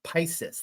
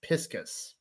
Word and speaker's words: Piscis: here we go now this is pronounced V piscus now I want to pronounce it like Pisces like Pisces but apparently it's piscus so I'm just letting